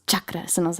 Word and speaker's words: chakras: can do yoga poses Chuck Dez which is the correct way to say it cause like they're like it's not chakras it's Chuck des and I was like